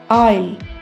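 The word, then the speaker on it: aisle: एन E pine A आई एस एल ई ऑल इसमें S silent रहेगा।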